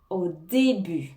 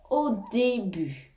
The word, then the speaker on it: au début: en retard au début au début hein ici on prononce pas le T au début au début au début